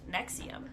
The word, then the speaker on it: NXIVM: And front for disgusting crimes, NXIVM, which I believe is pronounced Nexium.